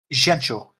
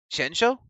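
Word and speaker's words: Jiaoqiu: Xiancho. Shensho? Yeah, for reference for Chinese language, when there is a Q, it's usually pronounced with a sh.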